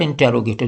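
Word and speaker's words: interrogative: बन जाएगा, जिसको आप इंटेरोगेटिव कहते हैं। This is नॉट इंटेरोगेटिव, this is इंट्रोगेटिव। इसकी ट्रू प्रोनाउंसिएशन इंट्रोगेटिव है, इंटेरोगेटिव नहीं है।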